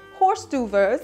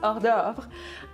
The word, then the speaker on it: hors d'oeuvre: It's not horse d'oeuvres, it's hors d'oeuvre.